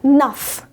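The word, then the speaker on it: neuf: 9 यानी 9 को हम बोलते हैं नफ।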